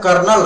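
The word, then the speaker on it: corps: सही होता ठीक है सीओ आर पी एस पढ़ते कोर है लिखते कॉप्स है सी होगा आर्मी एजुकेशन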